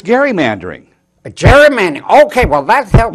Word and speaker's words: gerrymandering: It's gerrymandering. Gerrymandering. Okay, well that helps. Not Jerry, Gary, Okay. Gary, gerrymandering.